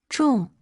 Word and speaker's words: 众: Its pronunciation is 重 It is formed from three Ren characters, but it doesn't simply mean three people.